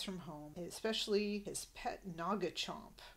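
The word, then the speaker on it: Noggchomp: home especially his pet Naga Chomp I don't know if Naga Chomp is like nagahide we get Naga hide a bit later in this scene it's spelled differently it's n o g g Chomp he says that's the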